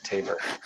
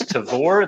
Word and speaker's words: Tavor: But, like, when I bring that beer back, yeah, Tabor. It is Tavor. They corrected me directly. I was ashamed and embarrassed for a full 24 hours, and now I say it correctly. When the people who started Tavor are like, oh, I'm sorry, it's Tavor.